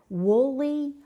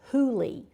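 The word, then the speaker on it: Whooley: And it's written by Karen and And I thought you pronounced that woolly, but it's hulie. The W is silent.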